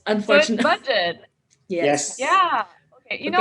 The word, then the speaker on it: Budjette: cool i'm talking with vegeta tan right now it's it's but it's pronounced as budget i i've been saying